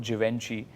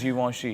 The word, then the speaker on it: Givenchy: There's this brand, I used to always call it Givenchy, but it's actually is Givenchy.